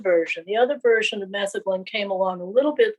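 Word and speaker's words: metheglin: Anastasia, what is methaglin? And I'm not even sure I'm pronouncing that right. So feel free to correct my pronunciation. But you're definitely you're definitely pronouncing it right.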